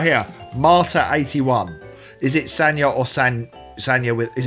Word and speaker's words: Sanja: both well it's it's it's with a j but it's pronounced as if with a y so sometimes you spell